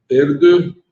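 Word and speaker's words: Erdő: Aqui, o Cardeal Peter Erdo, se pronuncia mais ou menos assim, que é húngaro.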